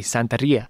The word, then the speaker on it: Santería: say it right before my wife yells me Santeria okay yeah um but and then I that's